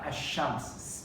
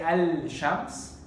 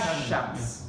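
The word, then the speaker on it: الشمس: Shamsiyya is we don't pronounce the letter after the lam, like ash-shams, sheen. We don't say al-shams. We say So the lam is ash-shams.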